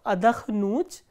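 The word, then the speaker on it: отдохну: written the conjugation of adakhnut and rest of the verbs will have the similar conjugations. So, how do we conjugate adakhnut? Ya adakhnu, and the stress is on u, which is the ending.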